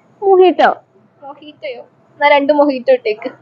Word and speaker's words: mojito: മൊജിറ്റോ order ഒക്കെ ചെയ്യാം, പക്ഷെ മൊജിറ്റോ അല്ല. അവിടെ മൊഹിറ്റോ.